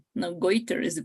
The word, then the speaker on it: goiter: to write it down is changing right now goiter is the pronunciation okay thanks okay any other question maybe